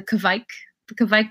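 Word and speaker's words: Kveik: Like, say, for example, the Kvik yeast.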